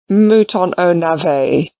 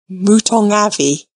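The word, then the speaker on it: mouton aux navets: pit monster lady crawley mouton oh nave added the butler gravely pronounced if you please mootong avi and the soup is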